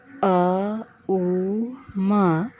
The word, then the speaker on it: ওম: অর্থ চিন্তা করতে হবে আ উ মা এইভাবে ভাগ করে এই উচ্চারণ করতে হবে উচ্চারণ পেট থেকে উচ্চারণ বুক থেকে এবং মা উচ্চারণ থেকে অনুভব করতে হবে এটি এরপর ভ্রমর